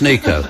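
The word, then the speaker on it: Neko: And I'm pronouncing the name wrong. Is this right? It's not Necco Case. It's probably spelled N-E-K-O. I mean, we did invent the language, but nevertheless, it's pronounced Nico.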